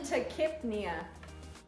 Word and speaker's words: tachypnea: Now, define tachypnea. Spell it for me, please. T-A-C-H-Y-P-N-E-A. Hypnea. This is respiratory, so. Okay, yeah. Tachypnea. Tachypnea. The P is silent.